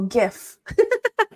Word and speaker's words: GIF: pronounce it like the the same G as in a garage ah garage so GIF um what is your